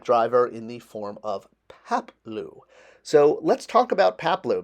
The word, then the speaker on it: Paploo: you know falls down pronounced Papo not that hard to pronounce not like anaman Mom